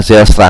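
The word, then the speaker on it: Zijlstra: Ya, mudah-mudahan gua enggak salah bacanya nih karena waktu itu dikoreksi sama eh Bro Vikar bacanya Zelstra kalau gua enggak salah ya.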